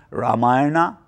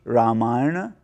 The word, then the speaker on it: Ramayana: same emphasis as others this is why when spelt in English you will see the letter A added to the end of many words unfortunately it often leads people to overcorrect the pronunciation for example we have all heard people saying Ramayana Mahabharata Rama Ashoka they are actually meant to be Ramayana Mahabharata Rama and Ashoka during my discussion therefore